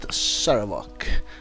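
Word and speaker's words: Sarevok: Alright, now I heard at least how to pronounce it, Saravok.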